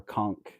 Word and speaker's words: conch: A lot of times you see the pinkish very bright pink conch shell or conchk depending on where you're from and how you pronounce it.